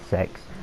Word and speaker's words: CeX: you know, the pronunciation SEX. I refuse to say that. I want to say CEX because, you know, they're capitalized letters, so I just assumed it was CEX this whole time, and I'm going to refer it to that.